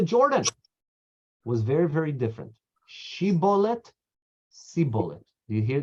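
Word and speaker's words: shibboleth: a more she bullet say the word she bullet if he said see bullet if you use it changes the shin to a sin ACH and he was unable to pronounce she bullet correctly or then they would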